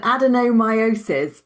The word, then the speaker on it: adenomyosis: So we're going to explore Sally, you're going to have to help me with the Yeah, pronunciation. this is really common, adenomyosis, because it's not a word we say very often.